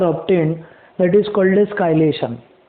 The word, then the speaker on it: chelation: काइलेशन, CHELATION, काइलेशन इसका pronunciation है। लोग चिलेशन बोलते हैं, तो यू can call it एज चिलेशन और काइलेशन। काइलेशन बोलते हैं बेसिकली इसको, असली प्रोनाउंसिएशन काइलेशन है।